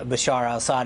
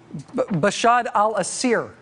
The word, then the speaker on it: Bashar al-Assad: Syria with bashad Al Bashar Al Assad in in charge Bashar al-assad I know you've mispronounced his name a few times uh but uh it's Bashar alassad bashad al-assir was the was the attempt there talking is hard